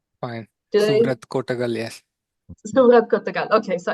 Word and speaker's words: Suvrat Kotagal: Surat Kotagal. Yes. Surat Kotagal. Okay. So, I that's better than many people pronounce it in India.